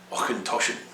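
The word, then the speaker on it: Auchentoshan: this is one that's often mangled by the whiskey newbie this is ochentoshen and that means i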